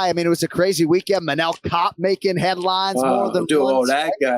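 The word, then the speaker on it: Manel Kape: Hey, can you work with me on the pronunciation? We're going Manel Kopp. Manel, what did I call him? Manel Cop. You called him Manuel Cape. Can we go Manel Cop?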